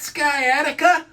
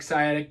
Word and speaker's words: sciatic: my leg is that sky attica i get that all the time people call it sky attic sciatic but it is kind of spelled like skydick it's spelled s-c-i-a-t-i-c the sciatic nerve that leaves